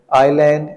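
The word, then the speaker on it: island: इसमें L silent है आईलैंड इसमें एस साइलेंट है रिस्ट इसमें डब्लू साइलेंट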